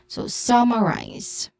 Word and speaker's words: summarize: Pronunciation wise, focusing on summarize, which has a stressed syllable on the first syllable, so summarize. It ends with a buzzing sound, letter Z sound.